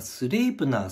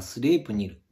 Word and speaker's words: Sleipner: ですけどねまスレイプなスレイプニルどちらも正しい読み方だと思うんですよスレイプなが多分英語読みででスレイプニルが北欧になると思うんですけどで